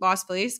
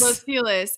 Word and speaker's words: Los Feliz: So I usually go to the movie theater in Las Feliz because that's where I live, and they have like the cheaper.